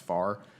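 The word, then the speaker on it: FFAR: agricultural research uh pronounced it's F far or it's pronounced far it's public-private partnership that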